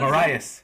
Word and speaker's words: Moraes: We have Moraes. Did I say it right? Yeah, pretty close, pretty close. Yeah. Moraes.